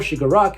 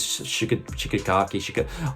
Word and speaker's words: Shigaraki: Although the story tells about how Izuku Midoriya becomes the greatest hero, it also focuses on how Tamura Shigaraki will possibly become the greatest villain, as Tamura Shigaraki serves as a dark reflection of Izuku Midoriya.